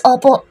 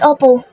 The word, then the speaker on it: opo: The best mom anak It's Opo not ople I corrected him minsan